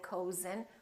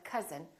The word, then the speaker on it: cousin: up fun but number but also sometimes this sound is spelled with oh you as in words like cousin my cousin we don't say my cozen we say my cousin or country and once